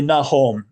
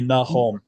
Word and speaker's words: Nahom: All the names in the Bible and in the Book of Mormon, if you pronounce the vowels like Spanish, you come closer.